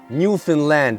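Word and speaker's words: Newfoundland: beaver so you st from New Finland which I pronounced New Foundland so why you pronounce it New Finland I don't know why Zolo I have no idea why just pronunciation just accent see this is New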